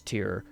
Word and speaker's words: Tear: these places is with the girls traveling towards tear and sorry now that I'm just remembering the town city is called Tear not tear it's not my fault that Robert